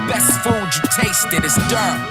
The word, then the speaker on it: Durham: We even pioneer life-saving medication over a craft beer, and the best food you tasted is Durham. The H is silent, the A too.